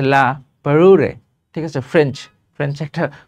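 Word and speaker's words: La Parure: নাম কি লা পারুরে এটা উচ্চারণ হচ্ছে লা পারুরে ঠিক আছে ফ্রেঞ্চ ফ্রেঞ্চ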